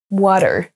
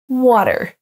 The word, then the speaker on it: water: thanks et le dernier attention à ne pas dire water mais bien water water on ne prononce pas le a comme un A français avec la bouche bien ouverte mais water vous pouvez aussi le prononcer à la Britannique avec un T au water water vous avez le choix donc